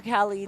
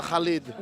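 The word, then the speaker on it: Khaleed: rate on his word it's khed there is a khed why are we even surprised love that you're doing the correct pronunciation by the way I'm pretty it's somewhat correct I guess almost I'm trying to study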